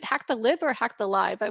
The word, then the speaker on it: HackTheLib: um prizes for for is it hack the lib or hack the live I wasn't sure how to pronounce it yep hack the lib hack the lib so